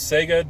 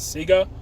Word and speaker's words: Sega: Apparently that's how they pronounce Sega down in Australia and New Zealand, is Sega. But it's Sega of my house to me, but apparently I'm wrong. It's Sega.